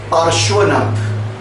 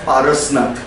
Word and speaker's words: Parshvanath: Out of that, the 23rd Tirthankar, that is Guru of Jain people, the 23rd Tirthankar, that is considered as Parshvanath. But many people pronounce as Parasnath.